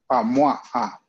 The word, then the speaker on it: moi: OI. OI is what? Wa. Remember that? I is? Moi.